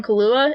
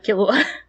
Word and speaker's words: Killua: I actually called him Kahlua, as is my character to mispronounce everything. I called him Kahlua for like the first 40 episodes, so no one is safe. Is that not how you pronounce it? No, like the alcohol Kahlua instead of Killua.